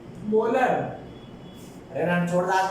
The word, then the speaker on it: molar: जगह, capital M, और इसको प्रोनाउंस कैसे करते हैं, 2 मोलर।